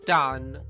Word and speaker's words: done: e oggi Vi presento Dan e vedremo 20 espressioni con questa parola partiamo Let's go questa parola si legge Dan Dan e significa fatto o